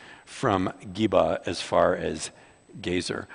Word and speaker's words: Gezer: Geba as far as Gezer. I want to say geezer because I'm getting to be kind of a geezer, you know, but I think it's Gezer is the way you pronounce that.